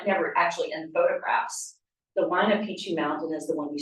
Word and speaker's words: Huayna Picchu: Huayna Picchu, yeah. And that's the mountain you see at Machu Picchu. So Machu Picchu is called after the south-facing mountain, which is never actually in photographs. The Huayna Picchu mountain is the one you see in the